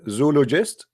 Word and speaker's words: zoologist: I will say ologist, and you say Zulu. Zulu and Olo.